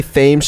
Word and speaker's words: Thames: What I do, like when people say Thames Street in Newport, it sounds better as Thames.